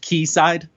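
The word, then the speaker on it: Quayside: think that's the UH it's pronounced key side yes okay that shows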